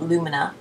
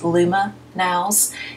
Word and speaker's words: LumaNail: I apologise, I mispronounced it in the last one. I kept calling it Lumina, but I believe it's pronounced LumaNails, and it's by Divina Australia.